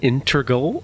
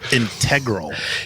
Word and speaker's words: integral: a very important role the word I think you were looking for is integral yeah but I was going to pronounce it integral integral I was going to put the emphasis on a different syllable an integral Ro yeah